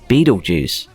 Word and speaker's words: Betelgeuse: pronounce it anyway Beetlejuice the original preferred pronunciation for the word was Beto Dukes later becoming bad or Jews although it sounds like beat all Jews and that ain't right so the preferred pronunciation now is Beetlejuice I was in game